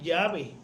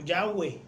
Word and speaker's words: Yahweh: Entonces, a esas letras Y mayúscula, H, V y H, le tenía una pronunciación parecida al Yahvé o Yahweh.